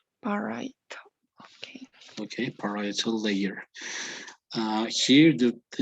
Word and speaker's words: parietal: It is actually parietal. Parietal.